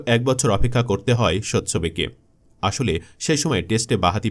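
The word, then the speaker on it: Tsotsobe: ভেঙে যাওয়া দশা হতো মূলত ইংরেজি লেটার এস এর আগে টি থাকলে সেই টি এর উচ্চারণ হয় না এবার নিশ্চয়ই পড়তে পারছেন তার নামটা হ্যাঁ তার নাম সৎচ্ছবে লোন পাবো স্বচ্ছবে আন্তর্জাতিক ক্রিকেটে স্বচ্ছবের অভিষেক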